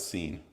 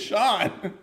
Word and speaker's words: Sean: also S A an the name Sean I thought it was seene when I first saw it and I got into an argument with aan about his own name he's like no it's a scene or he's like no it's Sean I'm like no look